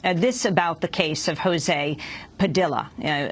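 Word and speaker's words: José Padilla: This about the case of Jose Padilla. Jose Padilla pronounces his name in that way as opposed to Jose Padilla.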